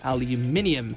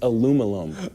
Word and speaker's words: aluminium: first created the elements wanted it to be called aluminum in line with other Alloys like Platinum but he had a lot of critics who wanted aluminium more like magnesium say it again say